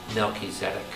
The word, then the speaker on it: Melchizedek: melchizedek by the way the correct hebrew pronunciation is melchizedek and we say malchez that's sorry i'll let